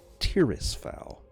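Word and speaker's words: Tirisfal: Fogg laid tryst fall I say the name wrong all the time it's Terrace foul imagine the blow we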